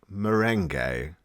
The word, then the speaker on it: Molyneux: It's the stress on the mole, not the you. New. So how do we properly address you? We're not gonna know. It's pronounced merengue.